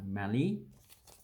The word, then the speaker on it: Mallee: much spelt like that it's a melee you know it's an african country called mali that has a long a bowel this one has a short avail it's a mali and it's also a